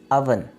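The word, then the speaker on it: oven: Next हमारे पास word है अवन। ओवन नहीं है, जो कि मिसप्रोनाउंस बोला जाता है, ये लफ्ज़ गलत बोला जाता है। ओवन नहीं बल्कि अवन।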